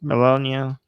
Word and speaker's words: Melania: Melania.